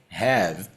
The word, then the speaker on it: have: we have they have Lembrando aqui no detalhe da pronúncia que esse e não precisa ser pronunciado então a gente não vai falar have a gente vai falar I have you have we have they have enquanto he she it